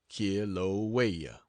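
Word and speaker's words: Kilauea: the world that of kilaa pronounced K waya and from then back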